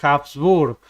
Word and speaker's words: Habsburg: Pero la H en alemán no es muda.